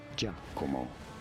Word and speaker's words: Giacomo: In Italy, it is said as Giacomo.